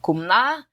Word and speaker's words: Kamala: And this has been analyzed to death, but really it probably should be something like Kumla, from what I've been able to ascertain from reading. I've never heard anybody that speaks that L1 say her name.